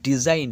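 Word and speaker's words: design: অর্থাৎ চিহ্ন তারপর হচ্ছে ডিজাইন ডি এস আই জি এন দেখো এর পরে এখানে যে জি এর উচ্চারণটা নেই তাই সরাসরি আসছে ডিজাইন অর্থাৎ নকশা রিজাইন আর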